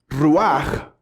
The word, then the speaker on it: ruach: De hecho, la forma en la que en el hebreo se debe pronunciar la palabra es una palabra que hace el sonido, ¿sí? Por decir el sonido de viento.